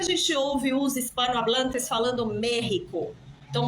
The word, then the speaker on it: México: ouve os espanhuablantes falando merrico então México se escreve com x porém eles dizem merrico México eles dizem merrico com rota porque antes a língua